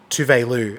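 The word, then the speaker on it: Tove Lo: Is because on Drag Race, RuPaul had Tovelo or Tuvelu on Drag Race, and RuPaul pronounced her name as Tuvelu, and she was like, "That's actually how my name is pronounced."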